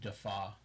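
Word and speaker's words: DeFauw: And last name is D-E-F-A-U-W, pronounced Defaw.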